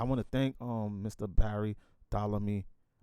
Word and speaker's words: Ptolemy: Barry Ptolemy. Did I say it right? You did.